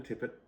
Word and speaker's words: tippet: we know what a tipet is no good okay but it's made of linen great and maybe it's pronounced tipe it could be French probably not in England England it's tippet in France oh yeah